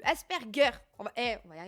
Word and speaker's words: Asperger: Le G se prononce comme s'il y avait un U. Asperger.